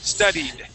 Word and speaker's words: studied: studed not stud studed studied yeah if you have studied that y that Y is still going to uh have that that e sound okay so if the